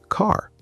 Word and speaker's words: car: For example, the word car. In British English, say it with me. Car. The R is very soft, almost quiet.